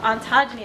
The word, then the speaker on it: ontogeny: So Darshana, can you please explain what ontogeny is?